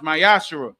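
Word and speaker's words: ma'aser: chapter 3 verses 8-10 means 10 in Hebrew is pronounced myash 10% of every penny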